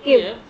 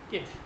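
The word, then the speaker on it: Kyiv: ওরা উচ্চারণ করে কিভ, আমরা বলি কিয়েভ, আর ওরা উচ্চারণ করে হচ্ছে কিভ।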